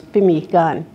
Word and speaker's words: pemmican: Our Métis people were selling pemmican. The great pronunciation is pemmican. That's the Cree way of pronouncing that, you know. And they learned that from their Aboriginal mothers, pemmican.